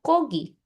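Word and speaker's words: 고기: Mm, mm, Sesuai aturan, kalau muncul pertama bacanya G. Tapi oke. pada kenyataannya, nggak ada orang yang ngomongnya gogi, semua orang ngomongnya kogi.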